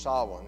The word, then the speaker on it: Samhain: So Halloween has its origins in an ancient Celtic festival that's pronounced Samhain, even though it's not how it's spelled.